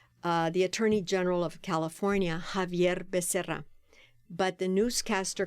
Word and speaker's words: Xavier: "His name is not Xavier. His name is Javier." Yeah, a lot of people don't know the X in Spanish is pronounced like a J.